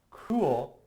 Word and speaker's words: cruel: So when you're thinking of pronouncing, or the difference between pronouncing cruel and cool, it does sound pretty similar, but you gotta put that, like for cruel, you gotta put that emphasis on the R, right?